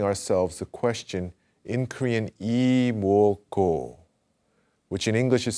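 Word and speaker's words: 이뭣고: In our minds, we ask, 이모고. And we take that last syllable, G-O, and we extend it all the way to the end of the breath.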